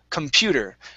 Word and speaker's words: computer: The stress is on the PU, okay? So we say computer. We do not pronounce that computer. It's computer, okay?